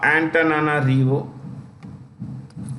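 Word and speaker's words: Antananarivo: I'm so sorry okay it capital is uh antana rivo let me spell it here antana REO okay let's look at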